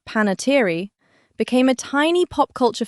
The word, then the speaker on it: Panettiere: And, her surname, pronounced Panettiere, became a tiny pop culture footnote all its own.